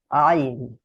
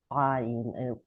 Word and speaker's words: Ayin: But I have to say, in everyday Hebrew, the Ayin will sound basically like the Aleph. So people would say Ayin, Ayin instead of Ayin. But in class, I am always trying to pronounce it correctly, so you hear the difference in the word.